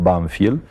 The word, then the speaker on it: Banfield: que en la Argentina el pueblo se llamaba nosotros lo pronunciamos banfiel y es un pueblecito